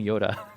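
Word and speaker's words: Joda: By the way, in that long list, there's a guy named Yoda. Spelled with a J, J-O-D-A, but it's like pronounced Yoda.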